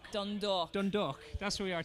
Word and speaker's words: Dundalk: You have to say Oriel Park, Dundalk, right? You have to say Dundalk. Listen to this guy. You can tell he's from around here. Say Dundalk. Dundalk.